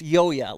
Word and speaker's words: Ryoya: And it's Yoya, like a silent R.